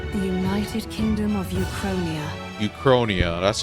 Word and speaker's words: Uchronia: Uchronia, that's how you pronounce it.